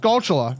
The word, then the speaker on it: Skulltula: So it's pronounced Skulltula. You wanna know why? Tarantula. Chula. Skulltula.